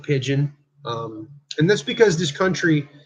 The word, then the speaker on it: Pigden: It's spelled Pigden, but we pronounce it Pigeon.